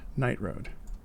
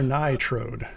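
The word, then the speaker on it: Nightroad: vladimir right night road vladimir night road yeah that's correct let's go with that though i do i do enjoy how you uh attempted to pronounce it yourself before you said it out loud on stream it could be vladimir nye trode it could be but it's probably not um the question is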